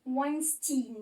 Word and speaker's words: Weinstein: comme pour Keira Knightley, en fait le E et le I ici vont se prononcer I. Du coup il s'appelle Harvey Weinstein.